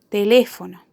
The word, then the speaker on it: teléfono: Otro ejemplo de una palabra esdrújula puede ser teléfono. Teléfono. Teléfono tiene su acento en la antepenúltima sílaba, por lo que la consideramos una palabra esdrújula.